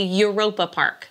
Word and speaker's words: Europa-Park: So in English, you would say Europa Park, like Europe, Europa Park.